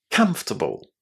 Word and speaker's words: comfortable: The letters o r inside this word are silent. We don't say them.